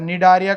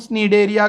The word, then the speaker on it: Cnidaria: अभी देखो इसको प्रोनाउंसिएशन में कुछ टीचर्स सी को प्रोनाउंस ही नहीं करते और निडारिया कहते हैं, कुछ निडेरिया कहते हैं, कुछ स्नीडेरिया कहते हैं, स्नीडेरिया, ठीक है।